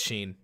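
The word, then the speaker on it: Schein: schroeder or something like s-s-c-h-e-i-n yeah that's sheen which i already taught myself how to pronounce because he's in my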